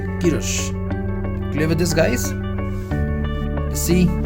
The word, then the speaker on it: Kirsch: This is the pronunciation of this one is Kirsch. Okay, this is Kirsch, Ki and here Rush, right? So pronunciation of this is Kirsch. It's not Kirsch or Kirsch. It's Kirsch.